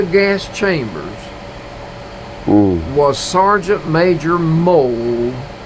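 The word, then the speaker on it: Moll: pellets into the gas chambers was sergeant major mole it's m-o-l-l but it's pronounced m-o-l-d oh the nazi commandant during the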